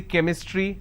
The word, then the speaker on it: chemistry: But when I have the word chemistry, CH becomes k sound. So I say chemistry, I say chrome, so I do not